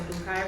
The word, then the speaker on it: Boukai: It's Boo like Halloween and Kai like rhymes with sky. So Boukai rhymes with Delhi.